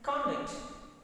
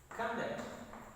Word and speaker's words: conduct: Now, stress placement is second. Conduct.